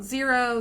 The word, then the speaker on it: Xero: I've heard good things about Xero. That's Xero spelled with an X.